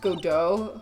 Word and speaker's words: Godot: It's pronounced Godot.